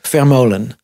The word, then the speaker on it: Vermolen: Joep Vermolen. I want to say it correctly because you have a certain way of saying it. It's just, it's not the German way like Vermolen.